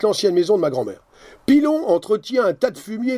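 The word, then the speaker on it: Pillon: P-I-2-L-O-N, on prononce Pilon.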